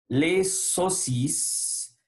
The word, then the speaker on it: saucisses: Les saucisses. AU, son O. Donc, on va dire les saucisses. ES final ne se prononce pas.